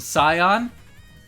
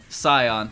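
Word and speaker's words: scion: chat what's that word do you pronounce the C do not pronounce the C oh boy it's a Sion Sion thank you a noble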